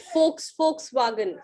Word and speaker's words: Volkswagen: well done guys this is ma'am how to pronounce it folks Volkswagen folks so yes Volkswagen it's a good topic